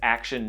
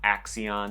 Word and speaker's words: Axion: started action shoes and is action not Axion because there was a pronunciation guide in one of their ads uh he started this